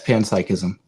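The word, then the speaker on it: panpsychism: So this concept known as pans psychism is it how you pronounce it? Okay. Yes. Yes. Pansychism.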